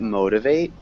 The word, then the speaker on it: motivate: Can you repeat motivate? Motivate. Yeah, good. So motivate. It's a noun. Is it a noun? Or a So verb? this would be a verb. Okay. But So- first syllable stress. Motivate. Motivate.